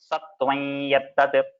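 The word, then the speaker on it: सत्त्वं यत्तत्: So there you have to say Satvayattat. So it's like one extra ya along with the Chandra Bindu.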